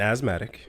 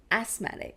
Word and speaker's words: asthmatic: judging you I'm an asthmatic yeah I have anxiety it's asmatic no not as it's not Zed sorry anyway continue I'm judging you're right continue I'm asmatic I'mma say it the way it's spelled oh my got I